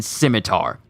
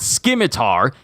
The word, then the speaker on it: scimitar: i've been wondering if i pronounce the c in scimitar it's not scimitar it's scimitar right i just want to